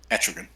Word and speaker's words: Etrigan: Etrigan.